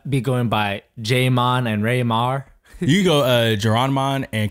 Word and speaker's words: Rai-mahr: So my real name is Rai-mahr, and I decided to go with because